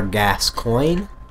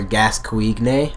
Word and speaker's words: Gascoigne: Now, some people have said that it's pronounced Father Gascoigne. Gascoigne. But that is actually not correct. It's actually pronounced Father Gascoigne.